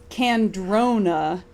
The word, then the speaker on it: Candrona: For me, it's Candrona, but what do I know?